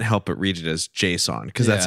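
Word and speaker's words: JSON: It's pronounced Jason.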